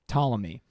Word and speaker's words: Ptolemy: that this one guy Claudius Ptolemy yeah otherwise he in his name though he does he does his silent P crazy wink he lived